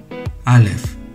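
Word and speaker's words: אלף: 알레프, 알레프, 알레프, 알레프. 이 발음은 마지막에 F 발음입니다. 알레프가 아닌 알레프라고 발음됩니다.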